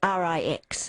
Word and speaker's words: Rix: and Gemma Rix, I think you call it, R-I-X.